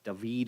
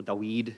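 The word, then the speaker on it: דוד: You can pronounce it slightly different ways, but David or Dawid is usually how it's said in Hebrew, and it means beloved, something like that.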